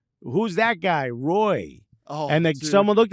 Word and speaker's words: Roy: at me and said, it's pronounced Wah. And I said, out of here. That's R-O and Y. And what came out of your mouth was W-A-H. And he said he's French, Canadian. He's French.